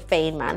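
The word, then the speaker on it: Feynman: the Fain feain man I think it's called feain man as how I pronounce it the feain man technique and this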